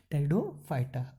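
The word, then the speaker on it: Pteridophyta: यानी कि जो टेरिडोफाइटा है इसमें जो पी वर्ड है ये साइलेंट है, इसीलिए हम इसे प्रोनाउंस करेंगे टेरिडोफाइटा।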